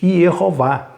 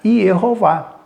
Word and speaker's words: Jeová: da pronúncia, desconhecendo isso, alguns estudiosos pronunciaram tudo da forma como estava lá, a forma como estava escrito. Eles começaram a pronunciar Yehová. E como na transliteração o iod ele acabou sendo representado pela letra J, com o passar do tempo, ao invés de Yehová, né, acabou se tornando Jeová.